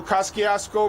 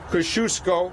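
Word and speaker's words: Kosciuszko: be a new JFK Airport there's a new cross kiosk Oh Bridge Kosciusko actually but I don't want to get into a pronunciation debate until we actually have to open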